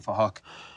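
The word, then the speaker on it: Phuc: We're spelt with a PH, so it sounds like Fahok.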